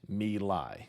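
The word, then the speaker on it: My Lai: Vietnam one of the villages there was named Mei that's spelled m y space l AI the American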